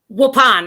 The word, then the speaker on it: Waupun: known as Oddball Arts, from Waupun. Is that how you pronounce it? Waupun, actually. Waupun.